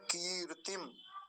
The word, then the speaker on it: कीर्ति: है तो क्या बनेगा कीर्ति कीर्ति पहली मात्रा को लंबा बोलेंगे और दूसरी मात्रा को जल्दी से बोलेंगे कीर्ति अगला शब्द देखेंगे